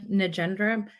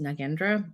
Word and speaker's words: Nagendra: my name is nendra also it's pronounced nagendra but I have been using both lately but my name is